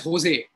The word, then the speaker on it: Jose: Now that can be pronounced in various ways. You can pronounce it as Jose or Jose or Jose.